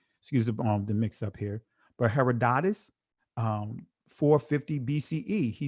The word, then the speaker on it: Herodotus: Herodotus, excuse me. Herodotus What some would say Herodotus I'll just say Herodotus, excuse me. Excuse the mix-up here. But Herodotus 450 BCE he says this.